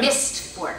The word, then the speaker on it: Mistborn: Mistborn. How do you say mist? Like in the mist? Yeah, like the mists.